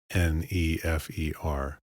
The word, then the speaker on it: nefer: In modern transcriptions, an E is added between consonants to aid in their pronunciation. For example, NFR, nefr or good, is typically written nefer. This does not reflect Egyptian vowels which are obscure, but is merely a modern convention.